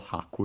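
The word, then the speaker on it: 拍: uh bit in uh Japanese haku as we have seen before should be accent on the first syllable haku if I recall correctly uh which means a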